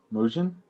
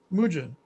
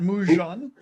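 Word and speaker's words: Moojen: pronounce freddie's last name m-o-o-j-e-n moojin mujin yeah not mujon guys in in st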